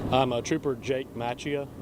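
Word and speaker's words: Macchia: Can you say your name and spell it for us? I'm a trooper Jake Matchia.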